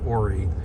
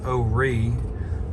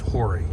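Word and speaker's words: Horry: ori county which is spelled h-o-r-r-y but it's pronounced ori some people still say oh re um but it's not pronounced hoary you'll never hear anybody say that usually ori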